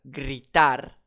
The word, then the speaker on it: gritar: En effet, on va l'accentuer sur la dernière syllabe puisque c'est un R, donc une consonne. Ce n'est pas un N, ce n'est pas un F. Je n'ai pas d'accent directement écrit. Je vais donc accentuer sur la dernière syllabe. Gritard.